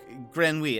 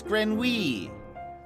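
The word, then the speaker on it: grenouille: something Grant grin oh grenui a grin hold on how do you how do you say that oh it's like Grand wheat okay yeah yeah like I said like I said it's grin wee I'm a French uh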